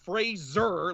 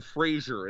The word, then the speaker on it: Fraser: a proud Scotsman and Fraser like there's a zed in there is the correct way to say my last name but like